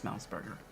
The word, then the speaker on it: Semmelsberger: They're not pronouncing his name correctly. It's Smellsburger.